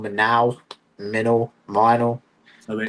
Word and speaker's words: Minall: I've been pronounced Everyone says Minall. See, it's wrong. It's Minall. Minor.